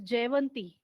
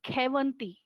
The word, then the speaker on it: Jayvanti: They pronounce it as K. So my cousin, her name is Jayvanti. But there, when she writes down Jayvanti, people call her as Kevanti.